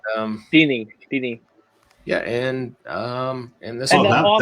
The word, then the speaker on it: Dini: Dene. Hope you're saying it right. Dini. And, Dini.